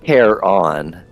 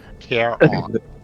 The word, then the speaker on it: Caron: again is it uh is it Karen is it Caron how do you want to pronounce that it's Care on Care on K on um she